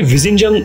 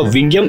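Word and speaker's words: Vizhinjam: Actually विजिंजम, ये इसका सही प्रोनाउंसिएशन नहीं होगा, विंगियम इसका करेक्ट प्रोनाउंसिएशन होगा।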